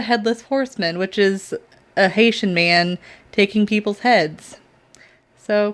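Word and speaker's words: Hessian: i think i think you pronounce it haitian like h-e-s-s-i-a-n but he witnessed a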